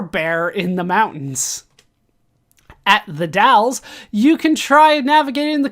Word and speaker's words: The Dalles: It's not Dalles, it's the Dalles.